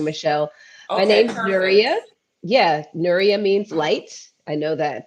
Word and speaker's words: Nuria: Yeah, Nuria means light.